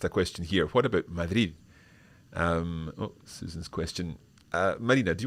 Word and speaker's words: Madrid: Yes, about Madrid, there is another, it's kind of the same rule, but when you have the R after a consonant, normally it's pronounced as the R1 that we had.